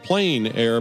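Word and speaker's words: plein air: In the Planair podcast, we delve into the world of outdoor painting called Plen Air Painting.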